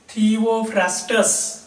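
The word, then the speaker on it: Theophrastus: So father of botany is थिओफ्रास्टस.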